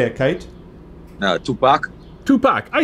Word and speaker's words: Tupac: see anyway he wanted me to see a two-pack no it is tupac all right i always post people when that